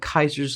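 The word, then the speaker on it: Caesar: Non-spoiler, it has something to do with Kaiser's Legion. That's right, I pronounced it just right.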